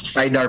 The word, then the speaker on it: Saidar: Tama po ba yung pagkakabigkas namin sa name nyo? Yes, tama po. That's Saidar po.